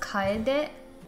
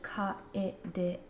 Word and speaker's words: Kyedae: It's actually pronounced Kyedae. Kyedae. But people have difficulty saying it.